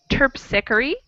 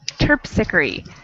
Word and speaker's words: Terpsichore: It's pronounced Terpsichore, and if you're curious, it's a Roman god of something or other. It's from a very long time ago, and English has distorted the pronunciation to be Terpsichore, even though it does not look like it's pronounced like that at all.